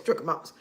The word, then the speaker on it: trichomonas: Doctor said I got trichomonas. I couldn't even pronounce the word then, but now I know how to say it. It's trichomonas.